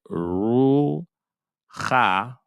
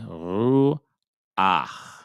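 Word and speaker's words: רוּחַ: If there's a chet at the end of a word and it has a patak underneath it, we will say the patak first before we say the chet. So what that mean? That means instead of saying we ru cha, we're going to say we ru ach, we ruach, we ru ach. Okay, that's just something to keep an eye on.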